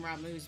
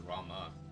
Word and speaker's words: Ramu: just want to trim ramu's beard his name is rama no it's ramu they they've been all pronouncing it ramu he's a you shall